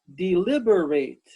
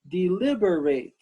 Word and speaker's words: deliberate: s ailments good and the next word is four syllables deliberate deliberate deliberate can you say